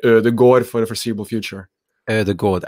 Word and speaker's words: Ødegaard: next to each other, it's also an O sound. So both of those are sort of like a thumb finger rule that that's an O sound instead of an ah sound as how you pronounce it as of right now.